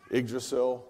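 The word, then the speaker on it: Yggdrasil: are no longer with us soft landing systems iggrasil that's how you say it by the way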